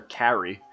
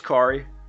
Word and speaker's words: Khari: grants niece khari so a lot of people call her Carrie by the way that it's spelt and that really pisses her off we like people calling me meek so uh her name is khari and you know being